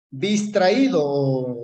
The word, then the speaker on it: distraído: Distraído, distraído. Dis traí do. Por lo tanto, en última sílaba, termina en N, en en vocal, cualquiera